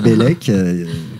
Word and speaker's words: Bellec: Alors Bellec, comme ça se prononce, BE2LEC.